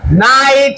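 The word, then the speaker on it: knight: K N I G H T নাইট Raja.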